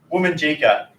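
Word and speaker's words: Wominjeka: promise I'll be quick woman jika has three syllables woman needs to come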